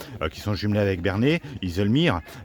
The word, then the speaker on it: Haslemere: Iselmere, j'espère bien prononcer, j'aurais dit Hazelmer, mais c'est Iselmere, voilà. En anglais, voilà.